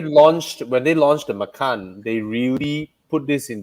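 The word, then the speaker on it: Macan: for for tiger yeah but i believe they pronounce it as makan they they i believe they refuse to pronounce it as matan so yeah so you want to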